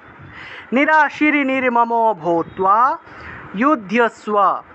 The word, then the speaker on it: যুধ্যস্ব: উচ্চারণ, নিরাশির নির্মমো ভূত্বা যুধ্যস্ব, যুদ্ধ ধয়ের সাথে জফলা থাকায় ধিয় উচ্চারণ, যুদ্ধস্ব বিগত জ্বরঃ, বর্গীয় জয়ের